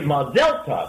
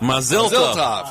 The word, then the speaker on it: Mazel tov: And I found out in Israel it's actually Mazel tov. Mazel tov. Okay. All of us here in the United States, whenever we use the Hebrew or the Yiddish, we're putting our emphasis on the wrong syllables, and it's it makes everyone look at you really strange.